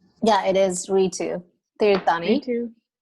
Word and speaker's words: Ritu: so could you tell me how to pronounce your name so i can say it correctly yeah it is we too there you're funny me too say your last